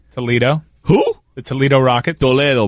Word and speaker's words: Toledo: Toledo, bro. That's how you pronounce it.